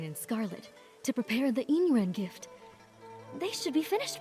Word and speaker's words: Yin Yuan: The Y's are so light, but they are there. So it's Yin Yuan. Yin Yuan.